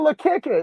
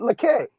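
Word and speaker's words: Lekki: It look good in the area, even in Lekeke. Lecky.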